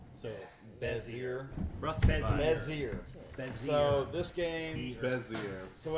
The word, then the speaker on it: Bézier: Bezier. Bezier. Bezier. Three syllables.